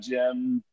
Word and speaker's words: Cem: in the intro there your name is spelled c-e-m but it's pronounced more like uh with a j jim that's the handle so